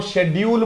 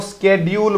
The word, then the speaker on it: schedule: दो दो प्रोनाउंसिएशन है, आप चाहो तो इसको शेड्यूल बोल दो, आप चाहो तो इसको स्केड्यूल बोल दो, बट आपको शेड्यूल बोलना है।